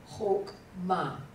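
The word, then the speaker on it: חכמה: For example, the word wisdom. Chokmah. It's chokmah. Yeah, chokmah. It is a kametz hatuf. It's not a kametz, just a kametz.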